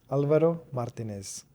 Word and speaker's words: Álvaro Martínez: I'm your host, Zan, and today my guest is Alvaro Martinez. I hope I pronounced your name correctly, Alvaro.